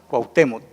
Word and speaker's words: Cuauhtémoc: o tres sílabas guau la otra t cuauhtémoc tiene tres sílabas tres sonidos tres emisiones de voz sí pero sigue habiendo el triptongo porque están las tres vocales esa es la regla verdad del triptongo que tienen que haber tres vocales en la misma sílaba ahora también vamos a